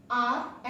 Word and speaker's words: hour: Now come to the second list, आर एंड आर. तो देखो spelling में क्या है?